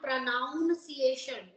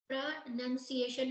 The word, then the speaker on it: pronunciation: pronunciation it is not pronounciation most of the most of the people they say your pronunciation work on that word it's PR nunciation it's not pronoun you're not working on